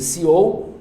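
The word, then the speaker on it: CEO: na lava jato sucessão novo céu que se pronuncia seou da Vale do Rio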